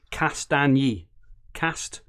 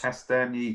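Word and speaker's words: Castagne: Castagny. 3 syllables. Castagny. Yeah. I'll practice. I'll practice. I'll break it into 3 bits. Well, I think as Paul mentioned earlier, he said it's lasagna, but use cast instead of last.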